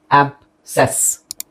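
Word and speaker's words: abscess: ಇದು ಆಬ್ಸೆಸ್. ಇದರಲ್ಲಿ ಎರಡು ಅಕ್ಷರ, ಯಾವ್ಯಾವ ಅಕ್ಷರ ಸೈಲೆಂಟ್ ಆಗಿದೆ ನೋಡಿ. ಆಬ್, ಇದೊಂದು, ಇದೊಂದು. ಆಬ್ಸೆಸ್, ಆಬ್ಸೆಸ್. ಅಸೆಂಡ್, ಅ E side, ASCE, ಸೊ C silent, ಅಸೆಂಡ್.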